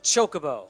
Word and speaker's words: chocobo: or people are I don't know I apologize chocobo there you go there you go shoka bow